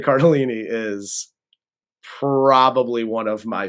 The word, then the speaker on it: Cardellini: yeah Linda cardini is and I mispronounced her name when I said it first but Linda Cardellini is probably one of